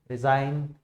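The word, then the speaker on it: resign: यहाँ पे देखोगे सारे वर्ड्स के अंदर उनके स्पेलिंग के अंदर जी लेटर दे रखा है, लेकिन जब उनको बोला जा रहा है तो उस समय हम जी का इस्तेमाल नहीं कर रहे हैं, ठीक है।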